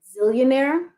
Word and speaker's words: Zeallionaire: And Zillionaire is ZEALLIONAIRE, not ZILL. Even though I spell it, sometimes people get into their head Z-I-L-L. No, Z-E-A-L, as in zealous, having a fervor.